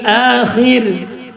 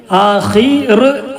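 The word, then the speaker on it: الآخر: കുന്തും ഇൻ കുന്തും തുഅ്മിനൂന ബില്ലാഹി വൽ യൗമിൽ ആഖിർ. നിർത്തി റാഇന് സുക്കൂൻ ആഖിരി എന്നുള്ളതാണ്. നിർത്താതെ ഓതുമ്പോഴും തെറക്കീക്ക് ചെയ്യണം, നിർത്തി ഓതുമ്പോഴും തെറക്കീക്ക് ചെയ്യേണ്ട സ്ഥലമാണ്. തെറക്കീക്ക് എന്ന് പറഞ്ഞാൽ ലഘുവാക്കി ആഖിർ ആഖിർ എന്ന് പറയരുത്. വൽയൗമിൽ ആഖിർ എന്നല്ല, ആഖിർ.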